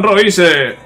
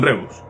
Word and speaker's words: Reus: Tottenham Royce, Tottenham Royce, ¿sabes? He visto Reus y he pronunciado como Royce, como Marco Royce. No, Tottenham Reus, Tottenham Reus.